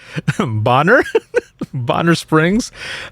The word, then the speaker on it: Bonner Springs: tag back and said over the radio boner springs then it's pronounced bonner bonner springs my officer asked me